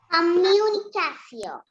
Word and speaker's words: communication: Here, when we have letters T-I-O-N together, pronunciation will be C-O.